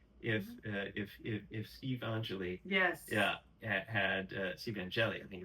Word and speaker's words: Angeli: Syracuse, boy, you wonder how could that team have looked if Steve Angeli had Steve Angeli, I think it's pronounced. Yes, Angeli, yes.